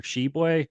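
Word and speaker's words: Tshiebwe: the year's name Oscar sheboy I guess that you don't say the T you don't pronounce the T I mean thanks though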